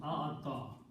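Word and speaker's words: أعطى: When we pronounce this one, this is pronounced as a'ata.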